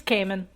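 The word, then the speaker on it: caiman: because K do yep is it kimman or Cayman it's Cayman it's probably as far as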